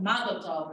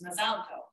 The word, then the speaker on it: Mazel Tov: You know, like Mazel Tov versus Mazal Tov, right? You know, the Ashkenazi pronunciation versus the Sephardic.